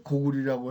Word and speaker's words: 고구리: 고구리는 국호를 고구리로 한 것은 구리를 계승한다. 그래서 고구리라고 했는데 꼭 빛날 자자를 리로 발음하라고 당서에도 삼국지에도 전운옥편도 복수천자문에도 이렇게 돼 있는데 그러면 말하자면 온조가 세운 나라는 전통 개성을 어떻게 표현했을까요?